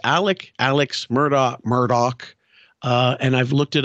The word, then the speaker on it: Murdaugh: it's Alec Alex Murdock Murdoch uh and I've looked it up and it they do pronounce it Murdoch like Matt Murdock Daredevil but they it's spelled